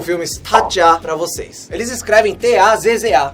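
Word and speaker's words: 타짜: não é Tazo, não é Taza, a pronúncia é Tatja.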